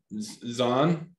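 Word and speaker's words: Zwan: in a band with billy corgan um uh zahn in a band oh yes one z-w-a-n what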